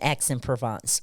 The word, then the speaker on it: Aix-en-Provence: So pronounce that for me. It is the University of Aix-Marseille Okay. in Aix-en-Provence, France.